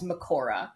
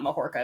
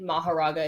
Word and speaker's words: Mahoraga: It was Makora, which is a shortening of Mahoraga, which is the Japanese pronunciation. But apparently Mahoraga is also correct because it is based on Buddhism. And so Mahoraga is Sanskrit. So neither is wrong.